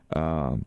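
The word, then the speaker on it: Ohkay Owingeh: Over 1,600 miles from Mexico City to Okeowenge. That's how you say it.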